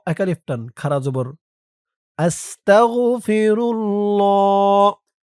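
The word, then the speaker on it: أستغفر الله: আমি এখন আপনাদেরকে শিখাবো এটি একটি সবক তাই শুরুতে বলে নিয়েছি আপনারা চাইলে সরাসরি আস্তাগফিরুল্লাহ এখান থেকে শুরু করতে পারেন আস্তাগফিরুল্লাহ আসতা হামজা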